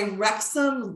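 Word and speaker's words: Wrexham: aboard the titanic was that it was by rexum lager it's spelled w-r-e-x-h-a-m and it's an english brewery and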